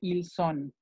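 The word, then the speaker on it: ils sont: Para el verbo etre, cuando, siempre que haya dos S, no nada más aquí, la pronunciación va a ser de una S. Entonces, ellos son o ellos están, se dice ils son, con ceseo.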